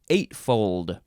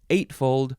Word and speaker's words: eightfold: Eightfold. 8, you can emphasize either syllable, eightfold or eightfold.